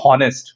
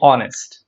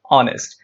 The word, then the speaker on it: honest: of the word honest the letter h is silent that means the sound of the letter h is not pronounced so we don't say honest do we say honest no right we say honest honest so an honest